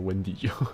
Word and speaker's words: Wendigo: You pronounce it Wendigo.